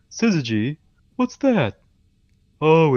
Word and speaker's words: syzygy: what the assist geez it's pronounced syzygy fine City as the nearly straight line configuration